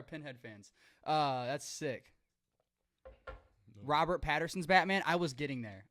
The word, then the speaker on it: Pattinson: I think Patterson's Batman. Pattinson. What did I say? Patterson? Mhm. Pattinson? Patterson? Yeah, Batman Patterson. Yeah. Pattinson. I always say it wrong.